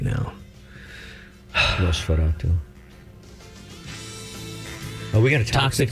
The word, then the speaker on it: Nosferatu: Or Nostravatu, or what's his name? Nosferatu? God, this has really been a good show for poor pronunciation, hasn't it? Sorry. I'm making fun of myself right now. Nosferatu.